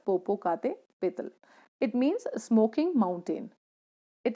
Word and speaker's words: Popocatépetl: This mountain is pronounced as Popocatépetl.